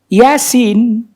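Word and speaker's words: يس: Sama kayak Yasin. Ya-nya 2, sinnya yang 6.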